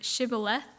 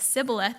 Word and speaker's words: shibboleth: by asking them to pronounce the Hebrew word shibboleth and if they pronounced it incorrectly as sibboleth they were killed um and there were about